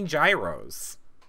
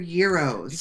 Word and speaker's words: gyro: It's gyro. How do you say the word gyroscope? What does that spell? Gymeros. No, it's spelled gyroscope. Gyros is euros. No, it's actually gyro. No, the G is not a J.